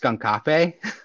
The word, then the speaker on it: Skunkape: It's the remaster being developed by you said it's pronounced Skunkape?